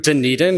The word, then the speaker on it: Dunedin: I'll be moving to denan is how you pronounce it it's Gaelic it looks nothing like what you would expect denan to be pronounced like to join a team